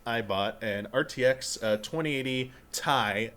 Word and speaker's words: Ti: To put this into perspective, 2 years ago, I bought an RTX 2080 Ti. It's not pronounced Ti, it's pronounced Ti. I was corrected. Ooh. But Are you TI, kidding me?